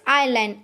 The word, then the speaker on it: island: Then seventh one is island, ISLAND, island.